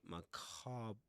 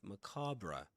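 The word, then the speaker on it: macabre: So you could say macab. Mac marra. Macra. I think he said macab. But macabra would be the typical pronunciation of that word.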